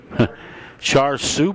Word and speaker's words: char siu: We've got Dijon pork, char siu pork.